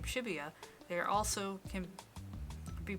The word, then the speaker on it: Shibuya: four kilometres away while the numbers 4 to 8 in Japanese can be pronounced the same as the syllables for the name Shibuya there also can be